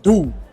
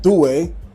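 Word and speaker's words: D'Ussé: than D do D how you pronounce it in France French the French pronounce it do that's what I was told and so we're going to go with do I thought it said du but it's absolutely a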